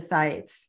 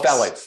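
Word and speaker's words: phthalates: talk about the the thetes the thetes is that correct am I saying it correctly the the thetes the Plastics phalates phalates phalates phalates what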